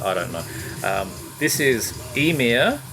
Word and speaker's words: Ymir: be the ladder i don't know this is emir it's spelled ymir but i have it on authority that is pronounced emir and uh this is like i said this